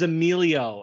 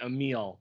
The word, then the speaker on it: Emilio: like a million times his name is emilio and i was saying it a meal the entire time i